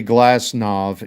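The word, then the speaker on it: Glasnow: And I say Glassnav in the proper European because a W at the end of the name is usually pronounced as a V.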